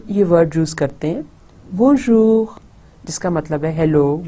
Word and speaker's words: Bonjour: اب آپ دیکھیں کہ یہ نون غنہ, میں این کو پورا نہیں پروناؤنس کرتی, وہ نیزل رہتا ہے. بون. اور پھر سیکنڈ پارٹ یہ ہمارا آ جاتا ہے بون, اور سیکنڈ پارٹ جور. بون جور.